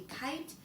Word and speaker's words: kite: Kite, because of that silent E at the end. The sneaky E makes the I say its name.